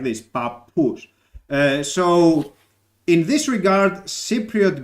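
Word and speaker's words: παππούς: greek when you pronounce this word you will pronounce it as papa and then so you are pronouncing it as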